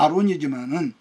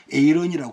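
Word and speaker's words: Aaron: 비록 서양 기독교가 오늘날은 완전히 여러분 변질되었지만 그럼에도 그들의 문화 배경에는 여전히 기독교적인 뿌리가 있기 때문인데, 그냥 우리말 발음으로는 그냥 우리말 성경 번역 아론이지만은 영어식 발음으로는 에이런이라고 그렇게 됐거든요.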